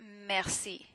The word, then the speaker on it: merci: For example, this E here is E in French, but since it's followed by another long syllable here, it's merci, merci. If I slow down, you hear the R in French, mer, but if I say it very fast, merci, merci, you probably won't hear it.